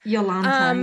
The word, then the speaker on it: Jolanta: Yeah, so is it Yolanta or Jolanta? How do you say it? Yes. Yolanta, yes. Yolanta.